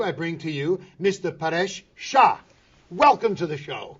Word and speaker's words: Paresh: Paresh, am I pronouncing it right? Yes. Paresh?